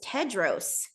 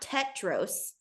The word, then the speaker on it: Tedros: up I was like oh it's Tedros not tetros it's Tedros yeah I think I figured out it was a d like halfway through because